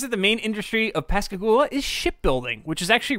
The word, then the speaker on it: Pascagoula: So in 1973, Pascagoula, I think that's the correct way to pronounce it, Mississippi.